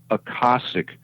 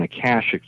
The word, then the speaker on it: Akashic: He said, "Yes, it is, but it's pronounced Akoshic rather than Akashic the way we pronounce it on Earth."